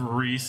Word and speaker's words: Rhys: a quick Google on this then how to pronounce Grease um the phonetic spelling of Reese is Reese is a Welsh name Reese Greece